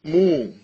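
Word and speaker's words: μ: It is pronounced as mu. Mu.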